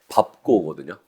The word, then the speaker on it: 밟고: 밟고거든요. 자, 밟고라고 해야 되는데 굉장히 많은 어른들도 밟고라고 발음을 해요.